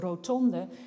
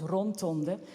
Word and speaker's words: rotonde: Many Dutch people write the French loanword rotonde, they pronounce it as rontonde, because they see a similarity, both semantic and formal, to the adjective rond, which of course means round.